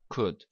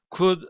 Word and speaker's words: could: dedim Öncelikle telaffuz arkadaşlar telaffuz ederken L harfi telaffuz edilmiyor onu Öncelikle söylemek istiyorum could orada L harfi yokmuş gibi telaffuz edeceğiz could could Arkadaşlar İki manaya gelir